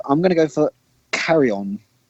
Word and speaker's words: Carrion: I'm going to go for Carry On. Carry On? Is that how you pronounce it? Yep, CARRION. Yeah.